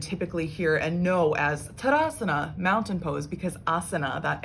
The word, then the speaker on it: tadasana: out the whole pose there's not two a's it's not like tada asana it's tadasana so you sort of